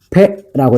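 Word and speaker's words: פ: 그래서 펜는 요렇게 쓴다라는 기억하시고 패라고 읽고요.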